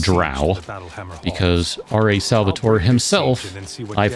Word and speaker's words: drow: is a dark elf ranger otherwise known as drow and yes it is correctly pronounced drow because r.a salvatore himself i've heard it come